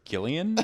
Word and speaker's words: Gillian: From now on, we're going to refer to her as Gillian, if people don't mind. We're going to do it a hard G.